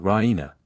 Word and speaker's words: Raina: of good news Raina she pronounces it Rena with the stress on the E Raina she goes to